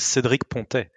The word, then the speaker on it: Cédric Pontet: My pronunciation is not if you want the French accent, it's Cédric Pontet.